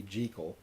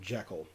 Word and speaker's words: Jekyll: from what I understand it's actually supposed to be G Cole and most everyone calls him Jekyll which G Cole Jekyll tomato tomahto I really don't care